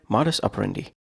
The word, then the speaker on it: modus operandi: Today's word, modus operandi. Modus, 2 syllables. Operandi, 4 syllables.